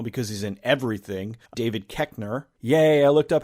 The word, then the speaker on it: Koechner: Well, one of them, who I should expect now because he's in everything, David Koechner.